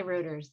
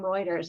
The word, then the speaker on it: Reuters: you apply to reuters um know how to pronounce reuters because lots of people say reuters that's right even when i say to them i'm lisa from reuters and they say oh reuters that's that's fantastic i love that um we